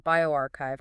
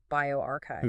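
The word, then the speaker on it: bioRxiv: For example, uh over on bioarchchive, remember that's pronounced bioarchchive.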